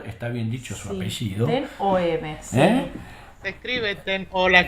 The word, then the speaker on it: Ten Hoeve: Ten-Huve se pronuncia. Ah, mira que... Me suena alemán. ¿O me suena holandés? No. Holandés. Holandés. Holandés, me ganaste. Muy bien, sí, eso es bien holandés.